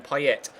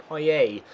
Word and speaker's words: Payet: Payet and call him Payet. But there's a pronunciation site I use, and I've had it confirmed from French people as well that you do not pronounce the T. It's Dimitri Payet.